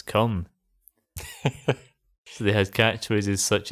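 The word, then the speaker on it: KOME: It's written K O M E, but it's pronounced on air as come.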